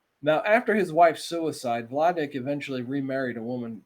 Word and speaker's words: Vladek: interview his father uh i think it's vladic is how you pronounce his name it's v-l-a-d-e-k uh in 1978 and